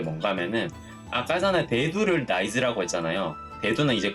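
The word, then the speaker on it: 大豆: 왜냐면은 대두를 의미할 때, 그러니까 큰 콩을 의미할 때 이 나이즈라고 있거든요. 요게 단골로 시험 문제에 나오는 그런 발음이에요.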